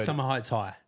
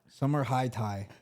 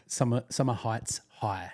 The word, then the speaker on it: Summer Heights High: Summer Heights High. Summer High Tie. Summer Heights High.